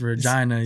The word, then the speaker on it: Regina: say like Regina so you got to pronounce the i's Regina so and then eventually